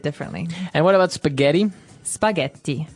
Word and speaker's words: spaghetti: and what about spaghetti spaghetti spaghetti oh you pronounce the Double T as well that's right okay so